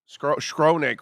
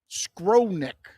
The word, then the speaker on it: Skowronek: Skronik. Scrotum's neck. Scrotum's neck. Sorry, I said it wrong. They have a guy named Scrotum's neck on that team. Skowronek.